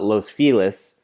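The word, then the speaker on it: Los Feliz: or you don't like people call it los felis which is like the loss is spanish but the felis they say with an american accent it's like very you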